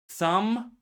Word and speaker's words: thumb: So, is it cub, thumb, table, or rob? Clearly, you could hear that I did not pronounce B in the word thumb.